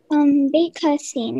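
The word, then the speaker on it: bécassine: Baycostine.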